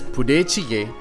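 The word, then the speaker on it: budae jjigae: out when you have the chance army stew pronounced as pudecige this is a delicious stew with a mix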